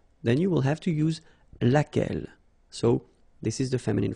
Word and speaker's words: laquelle: And then the feminine form, so singular, we saw it laquelle, okay? So basically same rule, Q-U, U is not pronounced here.